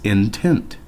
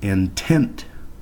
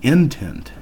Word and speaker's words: intent: we pronounce this word intent with the stress or with the accent on the second syllable as indicated by the accent mark rather than intent that pronunciation would have